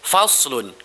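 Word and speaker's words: فصل: bacaannya faslun gitu ya dibacanya itu sound pakai outside bukan pakai Sin gitu ya faslun Apa artinya faslun faslun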